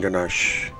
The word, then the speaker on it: ganache: you said oh gosh that's how it's pronounced okay all right uh yeah the third one buttercream covered in ganache got it almost done they scrambled it scribbled